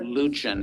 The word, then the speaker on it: Luchin: Luchin is how he pronounces it.